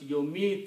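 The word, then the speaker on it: يميت: So the sound changes, and mim takes the kasra, and this takes the sukoon. For the pronunciation becomes yomito.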